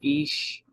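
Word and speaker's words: אִישׁ: is the feminine form of the Hebrew word ish you know ish that's how you pronounce it is well is Ish or ish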